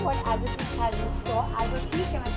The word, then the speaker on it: Azotiique: Azotique, am I saying it correctly? That's the correct pronunciation.